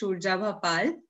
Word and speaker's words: Surjabha: uh as Alisa mentioned is shabal that's how we pronounce it uh and uh so